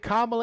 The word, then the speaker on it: Kamala: right you said it right but i think kamala is a significantly better running mate because one